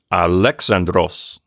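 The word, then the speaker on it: Ἀλέξανδρος: to notice is that in the word alexandros the accent is on a different syllable than the way we pronounce it in our anglicized version of the name you know we say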